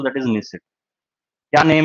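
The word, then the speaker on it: Knesset: Name है, so that is निसे, ANESS, ये silent बोलते हैं, इसे निसेट बोल देते हैं।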